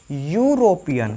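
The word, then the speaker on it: European: जैसे यूरोपियन, ठीक है, पढ़िए यूरोपियन, सब शुरू में क्या आ रहा है, यू, यानी य स्वर नहीं है, यह क्या है, व्यंजन है, इससे पहले क्या लगेगा, ए लगेगा।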